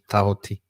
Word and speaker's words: Tahuti: I think the proper pronunciation is Tahuti.